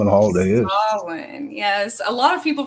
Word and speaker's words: Samhain: Samhain, yes. A lot of people pronounce it Samhain or Yeah, something. that's what I do. I say that. Yeah. No, it's pronounced Samhain.